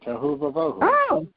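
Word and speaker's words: tohu va-vohu: I think it's, how would you pronounce that, Rabbi? Tohu Vahu? Yeah, exactly. Tohu Vahu.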